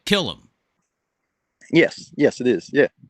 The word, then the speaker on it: Callum: what the hell how do you say this name guy kill him like like like killer like kill him I